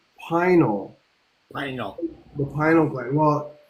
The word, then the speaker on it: pineal: Um I studied um like medical terminology and Latin terminology and it's actually it's actually pronounced pinal pineal the pinal gland.